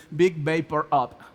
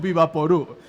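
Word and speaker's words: Vick VapoRub: Disculpen la mala pronunciación, pero así le decimos aquí en Venezuela. Yo sé que quizás fuera de Venezuela le dicen Big Vapor Up, pero nosotros le decimos Vivaporú.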